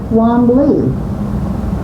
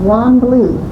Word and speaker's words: Wanblee: give the name of Wanblee to the post office, W-A-N-B-L-E-E instead of B-L-I, so that people would pronounce it correctly.